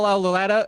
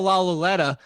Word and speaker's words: Lauletta: No, it's Kyle Lauletta, or that they just drafted from. I had an extra syllable in there. Kyle Lauletta from Richmond, or it's Alex Tanney.